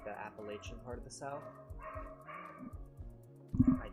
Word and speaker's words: Appalachian: I got it right that it's Appalachia's Appalachian.